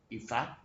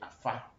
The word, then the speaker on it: Ifa: So if the Aves had learned Ifa, which the Aves call today Afa, and the Yoruba words had been a little bit adulterated to suit our tongue, how we can pronounce them.